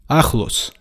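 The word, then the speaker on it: ახლოს: word for near Alice this word has a letter that does not exist in English listen carefully and match your pronunciation with what you are hearing Alice Alice Alice you make this sound from back of your throat practice some more whoo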